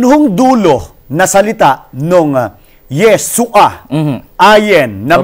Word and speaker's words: Yeshua: meron pong furtive pata sa ilalim. Opo. Guhit yung Opo. ayen. Opo. Kaya yung pong ayen doon ay hindi ho pinopronounce. Ang tawag ho doon ay guttural or silent letter.